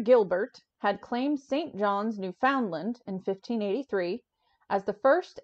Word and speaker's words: Newfoundland: Yeah, well, Newfoundland is pronounced Newfoundland.